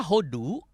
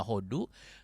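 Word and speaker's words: הוֹדוּ: Kalau hodu ditulis pakai kolem, bacanya hodo. Tapi kalau pakai surek jadi hodu.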